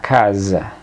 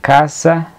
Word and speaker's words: casa: italiano se dice la casa la s intervocálica una s que está en medio de dos vocales suena entonces la casa en español italiano la